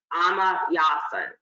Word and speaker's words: Ama Yawson: chop up the name, so I'm going to spell it. It's Ama, A-M-A, and then the last name is, I believe, Yawson, Y-A-W-S-O-N, Ama Yawson, Ama Yawson.